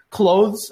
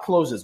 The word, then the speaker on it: clothes: sound just completely strange clothes I don't even need to say that not closes we never say closes